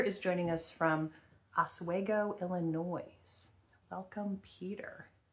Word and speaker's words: Illinois: joining us from ASO Illinois welcome Peter it's probably Illinois right the S is silent okay whoops I'm commenting